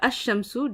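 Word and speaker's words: الشمس: So, one of the rules of Arabic is that some letters, when they take on alif lam, okay, the alif lam, the lam becomes silent, and some letters, when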